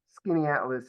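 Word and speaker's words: Skaneateles: So, yeah, the way that Skinny Atlas is spelled, you would never say it that way, but that's obviously how that's said.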